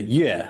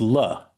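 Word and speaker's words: 樂: So in modern Chinese, modern Mandarin, the yue, the yin yue de yue, is the same as le, kuai le de le. So it's pronounced differently when you're referring to music as opposed to when you're referring to joy, but it's the same character.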